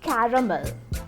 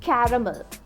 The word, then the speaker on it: caramel: Some Indian English speakers say it as caramel. Caramel. But the correct pronunciation is caramel. Caramel. It's not caramel, it's caramel. Word number 8.